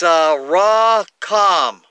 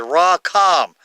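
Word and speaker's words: רחם: back and it's it's raw calm that's how you pronounce it raw calm the accent is on the second syllable now I look up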